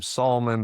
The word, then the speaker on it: Salmon: Sulaiman Comedy and my last name Sulaiman, but it's spelled like salmon.